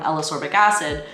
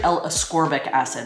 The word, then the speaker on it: ascorbic acid: specifically for up from alas orbic acid it's actually ascorbic acid i'm sorry i mispronounced